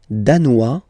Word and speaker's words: danois: Le Danemark, danois, danoise. Okay, insist on that. Danois, don't pronounce the final S.